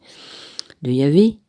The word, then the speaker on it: Yahvé: reçu les instructions de Yahvé ou de Yahweh, on prononce comme on veut.